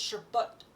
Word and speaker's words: sherbet: We add we've added the R to it, but originally there's no R after the SH. It's Sherbut.